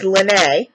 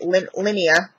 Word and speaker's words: Lynnae: and oh my God it's lynnae because I pronounced it last time Linea I think and she's like oh